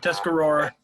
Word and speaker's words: Tuscarora: toughy what is it you said it right Tuscarora okay so oh and by the way we